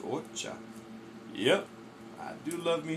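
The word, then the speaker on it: お茶: It's actually pronounced ocha.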